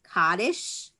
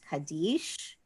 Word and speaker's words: Kaddish: lot of jews say kaddish which is an maybe a european and ashkenazic way of saying the word kaddish but the um hebrew pronunciation in israel and in most synagogues is kadesh and it comes from